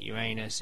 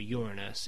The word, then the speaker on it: Uranus: You either pronounce it Uranus, in which you refer to your ass, or Uranus, in which you refer to piss.